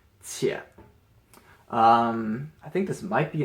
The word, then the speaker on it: 且: This is a character by itself, and this is pronounced 且.